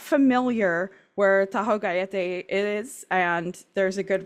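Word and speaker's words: Tajogaite: just popped up uh it was given the name Taho gay which I believe is the correct pronunciation um almost none of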